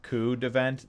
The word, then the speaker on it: Coup De Vent: It's totally like Coup De Vent. The P is silent.